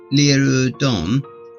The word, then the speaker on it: Laradon: wizards and in ola laradon which is pronounced leeroy dawn though i call him